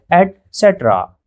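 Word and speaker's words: et cetera: असल में इसका सही प्रोनाउंसिएशन होता है एट सेट्रा एट्रा तो अब याद रखिए ईटीसी नहीं कहेंगे आप इसे एटसेट्रा कहेंगे।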